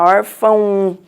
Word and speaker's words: órfão: Não, a gente fala órfão. Então, toda vez que o O for pronunciado mais fraco, a gente pronuncia o O como sendo U.